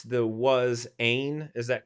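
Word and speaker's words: ἦν: word was god right so uh you we pronounce the was ain is that correct pete yes okay so we've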